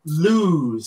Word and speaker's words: Luz: Lose. Okay, lose. I we were saying LUZ? I was saying LUZ. L-U-Z. LUZ? Like love? Yeah, like love. L-U-Z. But it's pronounced lose.